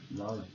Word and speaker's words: love: É love. O é, gente, no final, para variar, ele não é falado.